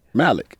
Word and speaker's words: Malik: ask you something everybody pronounced your name two different ways they call you Malik or Malik what do you go by Malik okay yeah how come